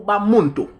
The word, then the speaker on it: Bamuntu: C'est pas Bantou, c'est Bamout ou Bamuntu. Bamout. Parce que Bantou, c'est une mauvaise prononciation de Bamout ou de Bamuntu.